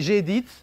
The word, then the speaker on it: gedit: Moi je dis gedit, c'est comme ça, c'est bon, c'est comme ça, j'ai francisé la prononciation.